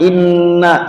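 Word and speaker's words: إنّا: Ayat pertama, inna, setiap nun tasydid dalam Al-Quran Bapak Ibu bacanya dengungkan, tahan dua harokat.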